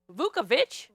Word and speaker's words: Vukovic: How do you say it? It's Hungarian, so let's hear it the right way. Vukovic. Vukovic?